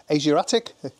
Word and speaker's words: Asiatique: Anyway, so we're off for a meal today in Conflon at a place called Asiatique or Asiatic. That's how the English owner pronounce it. Anyway, but sounds like Asiatique to me.